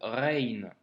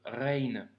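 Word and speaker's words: غين: Pour la prononciation, c'est plutôt facile pour le coup, c'est le même son que la lettre R en français que tu retrouves par exemple dans le mot Paris.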